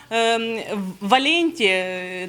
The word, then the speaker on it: Валенті: ми прагнемо до Європи клініка валенті це скорочено від Валентини але наголос саме на є прийому валенті клінік будуть вести близько